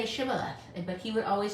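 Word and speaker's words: Shibboleth: would say no and they would say say shibala but he would always say sibaleth he couldn't say it right then they would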